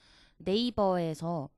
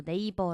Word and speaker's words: 네이버: 했을 때 대부분이 이제 정직한 한국식 발음으로 네이버 라고 하지 뭐 네이버 얼마 이렇게